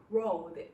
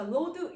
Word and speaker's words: road: road란 말이 여러분 R 발음 되게 불편하시죠? 한국 사람들이 하기는 좀 불편하신 것 같아요. 그래도 혀를 안으로 말아 넣어서 입천장에 닿지 않게 해서 road 이렇게 하시면 됩니다. 근데 이게 잘 안 돼요. 그래서 load 이렇게 하면은 이게 쌓다, 적재하다라는 다른 뜻이 돼 버리니까요. 발음을 좀 주의하시면 좋겠습니다.